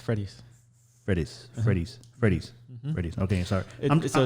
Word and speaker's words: Fredis: It's like Freddy with an S. Fredis.